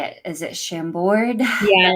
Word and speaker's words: Chambord: Is it Chambord?